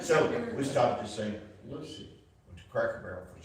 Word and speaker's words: St. Lucie: So we stopped in, is it St. Lucie or Lucy? Lucy. Okay, it's not spelled like I love Lucy, so it looks like Lucy to me. So we stopped to St. Lucy, went to Cracker Barrel for some breakfast.